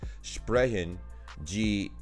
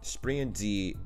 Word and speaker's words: Sprechen Sie: So I think it's pronounced sprechen Sie English, but right here it says pronunciation is sprechen G English. So sprechen G English.